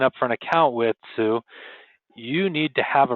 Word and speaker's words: Tsu: Um, Sue, uh, it's pronounced, uh, just like the the female name Sue is a, uh, a